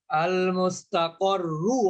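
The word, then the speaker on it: المستقر: যেমন আল মুস্তাকররু আছে, এখানে আপনি থেমে গেলে ওই শুধু তাজদিদই পড়বেন, আল মুস্তাকর। আস-সামিরিয়্যু, আপনি থেমে গেলে কি বলবেন, আস-সামিরি, আর ইউটা বলবেন না।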